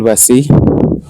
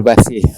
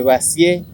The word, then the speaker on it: Vazie: Vazi. ¿Cómo es ese tu apellido? Bueno, mi apellido es V corta Z I E. Vazie. Se escribe Vazie, pero suena Vazi, porque es de origen francés.